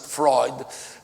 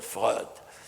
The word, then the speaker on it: Freud: french could write it in order to pronounce it freud and not and not fraud well you are asking